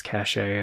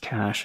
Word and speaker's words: cache: I was called this vertex cach a and then till one day somebody was like it's actually just pronounced cache and I was like